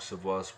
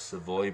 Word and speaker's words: Savoy: There you go, Anne-Hélène Savoy, which is Marc Savoy's wife. I know it says Savoy, but it's pronounced Savoy.